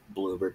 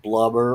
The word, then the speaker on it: Bloober: Again, Bloober Team. Bloober Team, not Blubber or Blooper or anything like that.